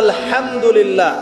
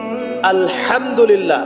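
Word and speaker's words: الحمد لله: আপনি পড়ছেন আলহামদুলিল্লাহ শব্দটা কি আলহামদুলিল্লাহ এই হা এর মাখরাজ কোথায় হায়ের মাখরাজ কোথায়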